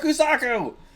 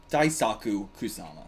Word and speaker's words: Kusama: I thought you guys said you took out Kusaku! Or Kusama. Right, got his name wrong. Daisaku Kusama.